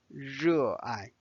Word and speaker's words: 热爱: 热爱, 热爱, 热爱. So this is the pronunciation.